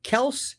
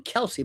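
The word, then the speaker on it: Kelce: By the way, this guy uh uh Kelse, they called him Kelsey, but I think it's pronounced Kels.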